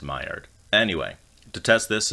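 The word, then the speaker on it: Maillard: and fried meat wait what do you mean it's pronounced myard and anyway to test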